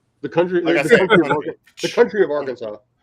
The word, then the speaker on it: Arkansas: country the country of Arkansas it's pronounced Arkansas uh we gotta pay